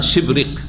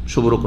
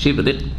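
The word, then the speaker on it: شبرق: শিবরিক, তবে রয়েছে শুদ্ধ উচ্চারণ হচ্ছে তার শিবরিক, শুভরক নাই, শিবরিক।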